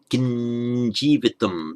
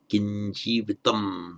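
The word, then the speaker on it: kiṃ jīvitam: Kinjivitam. It's pronounced like a nya. Kinjivitam.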